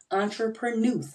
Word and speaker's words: entrepreneuse: she is an entrepreneuse yep you heard me entrepreneuse I didn't mispronounce the word entrepreneur again I say to